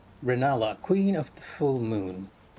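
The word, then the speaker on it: Rennala: Yeah, it is Ranala. Okay, so I was actually saying it correctly. Reinella, queen of the full moon.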